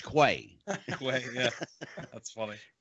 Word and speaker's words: Quay: Mike says to me, do you pronounce this Quay or Quay? I said, it's Quay, the Sage of Quay. Yeah, yeah. It was, the Sage of Quay. I want to say Quay. Well, don't. It's Quay.